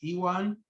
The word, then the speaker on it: Ewan: It's Ewan, and we have to use a Scottish accent.